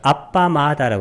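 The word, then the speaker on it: appamāda: 불방일은 빨려는 아빠마다라고 그래요. 아빠마다. 발음이 좀 틀리죠. 이건 아프라마다. 빨려로는 아빠마다. 빠마다의 반대예요.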